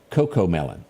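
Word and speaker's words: CoComelon: parental parental guidelines L Coco melon Sandy thank you Sandy knew what I was talking about I didn't pronounce it I was saying cuckoo is Coco it is a little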